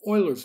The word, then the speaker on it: Euler: that might be the solution she turns to euler's method which in layman's terms allows the mathematician to approximate a differential equation numerically without actually ever really solving it in this video we learned how to perform euler's method and solve the same types of problems